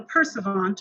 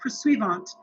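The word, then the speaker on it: pursuivant: that title is called a perseverant or persuavant depends on how you pronounce it i've heard it both ways um but the persuavant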